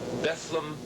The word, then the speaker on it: Bethlehem: at Godfrey Daniels in Bethlem Pennsylvania spelled Bethlehem but rhymes with bedlam Pennsylvania 30th of June